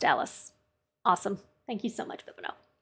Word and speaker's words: Alis: definitely don't remember thank you so it is pronounced alice awesome thank you so much all right so